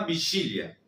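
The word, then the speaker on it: vigília: Elas est preparando uma vigilia. De vuelta la G se va a pronunciar como una ch, como una y, como usted quiera verlo.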